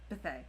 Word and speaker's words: Bethay: I think it's Bethay. Bethay. Okay, So on Monday, we are chatting with writer and editor Bethay.